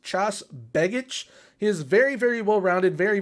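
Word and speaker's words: Tjaš Begić: I believe his name is pronounced Chas Begic.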